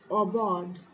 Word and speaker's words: aubade: It's pronounced obod.